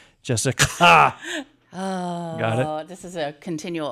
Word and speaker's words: Jessicka: I tried to put the little extra emphasis on the CKA. Jessica. Oh, got it.